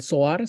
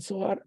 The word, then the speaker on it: Zohar: Entonces, también es otro libro, el Zohar, se escribe con Z, Zohar, con H en medio, Sohar, el Zohar, es la parte litúrgica de, ¿cómo se llama?